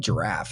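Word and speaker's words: Jirav: about the software so it's called giraffe it's j-i-r-a-v giraffe it's spelled giraffe is what it looks like point is it's an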